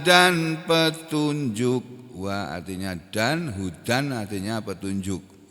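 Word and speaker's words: هُدًى: petunjuk wa artinya dan Hudan artinya petunjuk Huda membacanya Huda tulisannya Hudan Huda ini loh ini Huda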